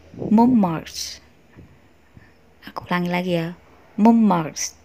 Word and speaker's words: Mont Marte: Kali ini aku akan melafalkan bagaimana pelafalan yang benar ya. Montmartre.